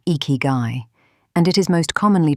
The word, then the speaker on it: ikigai: The word is ikigai, pronounced ikigai, and it is most commonly translated as reason for being or reason to get up in the morning.